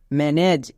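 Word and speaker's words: manage: ইম plus এজ ইমেজ এম এ এন ম্যান plus এজ ম্যানেজ এখানে প্রত্যেকটি ওয়ার্ডের শেষে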